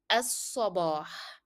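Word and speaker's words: الصباح: So all in all will be fi as-sabah. Fi as-sabah. Again, you find that lam here in as-sabah is a shadda letter, so we drop the pronunciation of lam.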